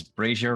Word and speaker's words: brazier: And I was like, did I pronounce brazier right? Yes, I did. Yes. Okay. Many people do not, but you did.